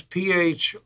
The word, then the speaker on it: Phrygian: as the Phrygian scale, a strange spelling, I suppose, P-H-R-Y-G-I-A-N, pronounced Phrygian.